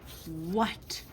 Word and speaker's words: what: Our next word is what? What? Echo. What? What? All right. W what is tricky about this word? That a is making an hu sound instead of an a sound.